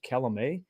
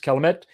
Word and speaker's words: Calumet: calumet farms i believe last week i pronounced it calamay so i apologize to the entire the entire uh calumet uh family the dynasty uh whoever they are i mispronounce your name so i apologize but i believe it is pronounced calamet it's uh it's very